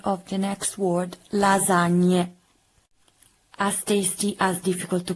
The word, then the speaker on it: lasagne: Not la lasagna, but le lasagne. But I didn't mark it because the majority of you said lasagna. So I just correct when you pronounce correctly the sound ñ. So lasagna, not lasagna, that I didn't mark because I'm so good, but lasagna. So the correct pronunciation is lasagne.